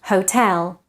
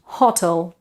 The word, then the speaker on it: hotel: word incorrectly number five hotel the stress pattern is actually the same as in Spanish or Billy hotel so it's not hotle so we say Hotel